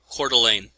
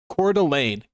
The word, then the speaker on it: Coeur d'Alene: And here, this is how you pronounce this place. Cordelane. Cordelane. Cordelane, Idaho. It's spelled so weird. It looks like French or something.